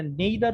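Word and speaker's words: neither: আরেকটা জিনিস যদি সবাই একটু খেয়াল করেন, এখানে আইদার এবং নাইদার বলে দুটো সেন্টেন্স আছে। এটা নেইদার উচ্চারণ হয়, নাইদার উচ্চারণ হয়, এনিওয়ে।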